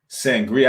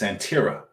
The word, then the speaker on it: Santeria: lot of these people Yes, Santeria. That's That's how you say it. Sangria, I said Sangria, but it's Santeria. Santeria is what it's called.